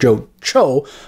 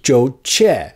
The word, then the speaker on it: Jo Chi: pronounced his name wrong his name was not in fact Jo Jo but Jo Chi but getting people to